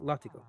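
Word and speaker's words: látigo: Uh compare uh compare Spanish uh latigo uh whip pronounced latigo.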